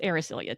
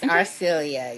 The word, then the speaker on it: Arcelia: And I'll tell you, I went back and forth with her name. So, I feel like more often than not, I called her Arcelia, but periodically she was Arisilia to me with a in there.